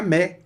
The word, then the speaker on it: mais: Me. Olha só que interessante, que é o A mais I, que dá o som de E, e o S some, fica me, de mas.